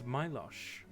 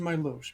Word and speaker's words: Milosh: And your Prince Milosh. Please, it's pronounced Milosh, but yes.